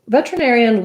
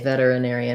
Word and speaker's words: veterinarian: So veterinarian looks like it should be veterinarian, which I think you can say veterinarian, in which case you would do a flap T here, veterinarian.